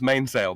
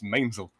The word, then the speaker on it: mainsail: not c-man laughs Polly it's not pronounced Mainsail my friend it's mainzel right it's about as